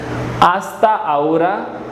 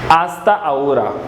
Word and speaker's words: hasta ahora: a minute in Spanish hasta ahora H is silent hasta ahora hasta ahora next is see you